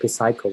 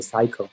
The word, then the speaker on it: psycho: example the first one we don't say psycho we say psycho so p is silent same thing as a